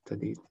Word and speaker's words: studied: Study, and obviously the past form is studied. So what we have is that the verb study, E, vibrates, vibration. Okay, so this is voiced. That means that the ED will be pronounced like a D.